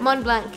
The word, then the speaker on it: Montblanc: Mont Blanc, yes. The correct way to say it is Mont Blanc.